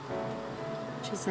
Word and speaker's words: Gisou: Gisou, I think that's how it's pronounced.